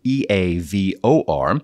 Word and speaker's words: Eavor: The group making this happen is Eavor, a next-generation geothermal energy company. Eavor, and that is spelled E-A-V-O-R, but pronounced Eavor, has introduced the Everloop, which represents the world's first truly scalable geothermal energy solution.